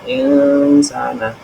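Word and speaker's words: الإنسان: ya kemudian kemudian eh ins Al ins ya insana itu disebut bacaan Ikfa dibaca dengan cara samar dan mendengung dibaca insana itu kemudian yang keempat takwim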